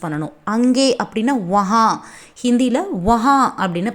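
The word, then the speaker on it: वहाँ: அங்கே அப்படின்னா வஹா. ஹிந்தியில் வஹா அப்படின்னு ப்ரொனவுன்ஸ் பண்ணணும்.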